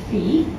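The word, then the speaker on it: Phi: it's 1 to 1.618 is pronounced Fe um you spell it Fe in English and we're just going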